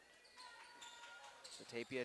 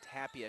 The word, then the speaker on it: Tapia: and it will put tappy in there in a hurry Tapia checks in correction on the name pronunciation Tapia checks in as the